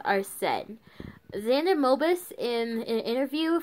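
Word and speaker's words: Arsène: this name wrong but I believe it's our sin Arsene yeah it's supposed to be French but I think it's our set xana mobis in an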